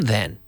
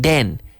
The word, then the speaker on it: then: Where are they from then? So there's a lot you can play with the pronunciation here. Where are they from then? Then, and not den.